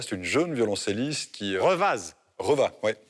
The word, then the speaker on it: Revaz: Revaz. Revaz, oui. Qui se prononce Revaz en Suisse, on ne prononce pas le zen.